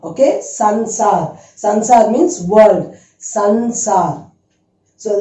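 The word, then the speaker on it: संसार: It's not samsar. It is sansar. Okay. Sansar.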